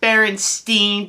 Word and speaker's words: Berenstain: Get in bed and I'll read you the Berenstain Bears. I hate those stupid bears. Plus, it's pronounced Berenstain Bears.